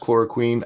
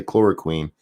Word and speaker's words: chloroquine: Adebisi says, I think it's pronounced chloroquine. I believe it is, and I say quine all the time. I can't. I said it that way the first time, and it's just stuck in my head.